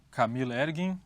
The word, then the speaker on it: Camil Ergin: Temos como convidado Camil Ergin, correspondente da agência de notícias turca Cihan. Está correta a pronúncia?